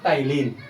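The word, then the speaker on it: ptyalin: सेलेब्री amylase का दूसरा नाम है टाइलिन। क्या नाम है? यहाँ पी साइलेंट होता है।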